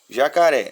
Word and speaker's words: jacaré: prova assim não tá jacaré jacaré é uma palavra que tem a última sílaba tônica lá na aula de